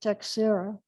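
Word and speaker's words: Teixeira: viridian guy named gregorio we we pronounce it texera the and he'd been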